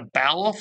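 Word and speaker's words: Balluff: So this is what a Balaf or Baloof, depending on how you believe in pronouncing it, this is what their IO-Link would look like.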